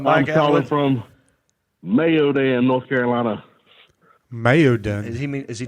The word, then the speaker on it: Mayodan: from Mayodan, North Carolina. Mayodan. Is he trying to say Maiden?